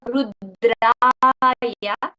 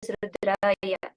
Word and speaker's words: Rudra: first is the pronunciation we have the effect of rudra versus rudra the long then there is the